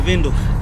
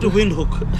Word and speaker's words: Windhoek: I'm telling you the pronunciations. Yeah, Windhoek. Yeah, not Windhoek.